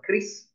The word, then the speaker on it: QRIS: pembayaran bentuk kiris tadi jadi kiris kalau dibacanya adalah Kris dia adalah standar nasional